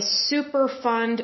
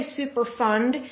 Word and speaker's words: Superfund: definition of what a super fund site is now when I say super fund that's ending in a d so it's not like super fun like we're having fun